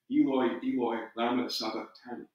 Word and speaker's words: Eloi, Eloi, lama sabachthani: I was taught to give him what I was told was the Hebrew pronunciation, Eloi, Eloi, lama sabachthani. We must remember, though, that